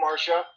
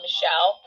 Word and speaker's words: Michelle: How can I help you, Marca? Oh, I actually it's it's Michelle. Oh. Um, okay. You sure you sure you pronounce it that way? Well, yes, it's my name, Michelle.